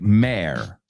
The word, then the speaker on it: mayor: The British pronounce it more like mare.